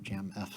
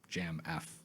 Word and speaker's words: Jamf: why I'm from this Jam F school I think it's pronounced Jam by the way finally